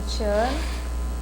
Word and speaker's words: Tatiane: Meu nome é Tatiana.